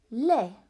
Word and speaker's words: les: Les, silent S.